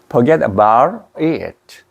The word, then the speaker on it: forget about it: 그러니까 이게 그렇게 이게 T를 입천장에서 내면은 말이에요 발음이 T로 안 나요 이게 forget about 하면 R 발음이 나버려요 forget about it Forget about.